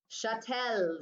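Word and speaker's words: chattel: Remember, chatel sounds like cattle, spelled like cattle, cows, move.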